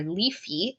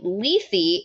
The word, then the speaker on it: Lethe: No, it's Lethe. Yeah, it's Lethe, like the Greek word, which I always thought pronounced Lethe, which I hate.